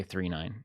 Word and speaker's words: 999: It reminds me a lot of Galaxy 39, which apparently is how you say that. It's written 999, but you say 39 if you're cool.